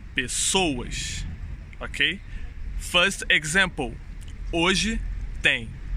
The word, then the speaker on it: pessoas: is pessoas as pessoas sou de estresse in this world is in the second sílaba pessoas pessoais ó pessoais the correct way is pessoas ok faz example hoje